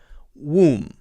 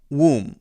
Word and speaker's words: womb: don't know, the womb, pronounced, by the way, without the B sound. It's got a weird pronunciation. It's woo, womb, womb. The end sound is M, and even though the last letter is B, it's silent, because usually if a word ends with MB, like climb and comb, it's not